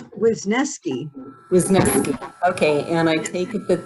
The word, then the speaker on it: Wisniewski: Wisniewski, right?